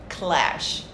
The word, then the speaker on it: clash: So the letter C sound, k, plus lash, lash, lash. Make it faster, clash.